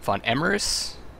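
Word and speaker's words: var Emreis: the north is being invaded by Emperor uh Von emeris that's how you pronounce his name and uh he kind of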